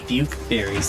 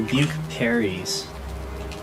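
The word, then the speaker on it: pukeberries: second I just realized they're not Duke berries they're buke berries huh what they're buke parries it's spelled with a p huh no yeah okay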